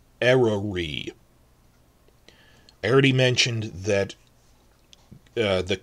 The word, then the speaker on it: Eryri: Snowdonia National Park, where they filmed a lot of Season 2, in Welsh is called Eryri. The Y is like a U, so it's Eryri.